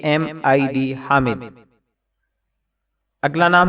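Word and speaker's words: Hamid: हातिम अगला नाम है हामिद कुछ लोग इसको हाम के तलफ्फुज से भी अदा करते हैं जो दुरुस्त नहीं है इसका मानी है तारीफ करने वाला spelling H ए एम आईडी हामिद अगला नाम है हाकिम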